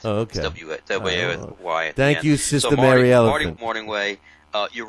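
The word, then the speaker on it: Mornhinweg: know his name is morning way the g is silent okay why morning way uh you're right he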